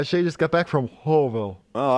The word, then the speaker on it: Louisville: just got back from wholeville oh I like Louisville that's the only way to say it uh everyone's wrong everyone's saying it wrong okay okay we've hit